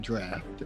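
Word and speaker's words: draught: That's because that's how you would phonetically pronounce it, but they call it draft.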